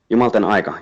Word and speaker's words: Jumalten Aika: And the title itself, I don't know how to pronounce it. Is it Jumalten Aika? Jumalten Aika.